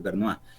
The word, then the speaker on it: Bernays: se llama Edward Bernays, se escribe, pero es como francés, Bernois.